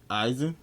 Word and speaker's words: Aizen: Aizen.